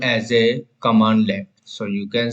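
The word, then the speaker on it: cmdlet: So every command in PowerShell called as a commandlet. So you can say it is called as a commandlet or pronounced as a commandlets.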